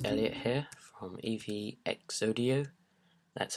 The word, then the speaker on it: EVXodio: Hello guys, it's Elliot here from EVXodio. That's how you pronounce it if you're wondering.